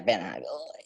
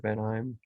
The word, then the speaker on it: Vanaheim: his home planet, and his home planet is so weird to pronounce I mean, Anaheim? yeah, Vanaheim.